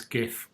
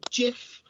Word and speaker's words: GIF: Go on there, you can have a look at some of the nice screenshots of the main game and also a nice GIF or GIF even of the bizarre dragon demo.